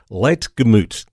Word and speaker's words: Ligtermoet: Life Church in Melbourne that much I can pronounce and it's Shelly Le gut I get it right I'm going to give